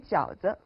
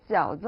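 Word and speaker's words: 饺子: D'ailleurs, à propos de la prononciation du mot jiaozi en chinois, elle ressemble à celle d'un autre mot, jiaozi, qui signifie l'alternance du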